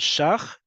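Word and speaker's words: ש״ח: You can pronounce it as shach instead of shekel or shkalim.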